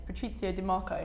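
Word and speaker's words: Patrizio Di Marco: piece and actually yesterday about the letter that pronounce his name it's Patrizio DeMarco who obviously you know was the CEO Gucci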